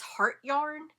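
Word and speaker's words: Hjertegarn: They carry um, I think it's heart yarn is how you say it. It's spelled different, but it's another Danish brand.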